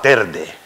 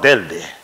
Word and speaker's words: Telde: el canarias por ejemplo hay mucha gente que dice yo voy para tarde no no nos vamos para telde con la l nos vamos a la